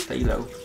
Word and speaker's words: phthalo: you surround some reason you don't pronounce the ph that's in front of the phthalo it's just stay low okay pterodactyl this is